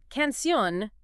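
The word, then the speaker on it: canción: But canun meaning song ends an end and the stress is on that last syllable.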